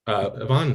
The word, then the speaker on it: Y-Vonne: But Y-Vonne, congratulations on your book. Thank you. And just a quick note, it's pronounced Y-Vonne.